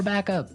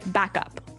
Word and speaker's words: backup: important hey yes yes you have to say backup Backup backup yeah so both words are stressed at about the same level hey mhm back up